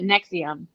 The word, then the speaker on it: NXIVM: That's the cult, and they call it Nexium. I think is what they say. But they did spell it weird like that. Like it because it also had something to do with like Roman numerals, etc.